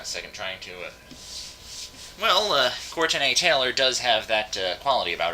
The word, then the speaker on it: Courtenay Taylor: By the way, if you're wondering why I pronounced her name like that, it's because that's the way her name is spelled. She spells it with an E because she's really cool like that, you know?